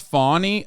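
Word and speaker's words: Fani: right now one is it's pronounced fawny okay whatever I don't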